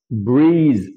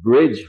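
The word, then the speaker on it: breeze: হালকা বাতাস আসতেছে আমরা সবাই জানি সেটা হচ্ছে ব্রিজ। উইথি আবার অনেকে যারা জি এর উচ্চারণটা ঠিকমত বলতে পারেন না যাদের জি বলতে গিয়ে জ হয়ে যায় তাদের কিন্তু ওটা আবার সেতু হয়ে যাবে ব্রিজ হয়ে যাবে এর প্রপার উচ্চারণ দিয়ে হবে রাইট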